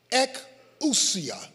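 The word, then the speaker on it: ἐξουσία: The Greek word here is pronounced ekousia.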